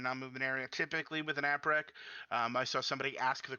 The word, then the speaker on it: APREQ: It's spelled APREQ for those of you who don't know what it actually looks like. App rec.